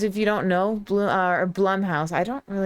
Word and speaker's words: Blumhouse: Because if you don't know, or Blumhouse, I call them Bloomhouse, but I'm pretty sure it's pronounced Blum, but I'm gonna stick with Bloom.